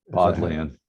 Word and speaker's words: Bodleian: Bodleian. Yes. Bodleian. Did you spend much time in that library when you were there? Yeah. What was that like? It's like the Bodleian best Library?